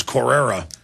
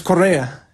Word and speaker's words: Correa: be perceived as a hero so i was mispronouncing it at this core era yeah it's correa it's uh but in any case he's you